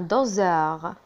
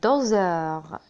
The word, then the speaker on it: doseur: un doseur. un doseur. إذا لاحظنا هنا الأس ينطق زاد.